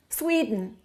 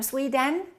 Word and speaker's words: Sweden: Swede n two syllables which one is stressed the first one okay what happens to the second one sweet fleeting Sweden so don't say i am from Sweden say I'm from Sweden how do we say